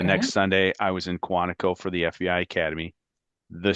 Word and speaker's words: Quantico: Yeah, Quantico? Okay. Quantico.